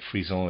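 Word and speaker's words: frisson: human life readers aside freezone is f-r-i-s-s-o-n sorry if i'm pronouncing that wrong i believe that's how you pronounce it and to read us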